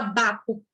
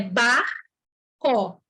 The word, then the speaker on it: barco: Então, em barco, aqui, ninguém fala baco, nem ninguém fala barro, com C mudo. É barco. Eu estou enfatizando, mas a gente fala rápido, ó, barco.